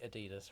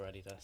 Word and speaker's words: Adidas: basically means yes manager you say Adidas or Adidas Adidas yeah does everyone else there say Adidas no they say Adidas because it's the brand is started by Adolf dler and abbreviate Adidas so yeah it's it